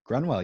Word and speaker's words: Grunwell: Welcome to the next edition of WP Coffee Talk, and I am here today with, I'll say it right, Grunwell? Grunwell, you got it.